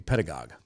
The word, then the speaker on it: pedagogue: Twitter I believe it's pronounced the same as ideologue or demagogue so it's supposed to be pedagogue but it's pedagogies which